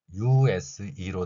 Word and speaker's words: use: U는 U 소리가 나고 S는 Z 소리가 납니다. 따라서 이 두 개의 글자가 나타내는 소리를 결합시키면 아래의 글자처럼 use 이렇게 발음할 수 있습니다. 이는 소리가 나지 않기 때문에 생략했습니다.